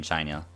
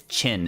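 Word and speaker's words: Qin: that's the actual name of the dynasty in China that's why I like when they call they call it sin but it's actually Shen pronounced Shen in the Japanese version because guys it don't say don't say Keen or whatever it's chin it's pronounced chin like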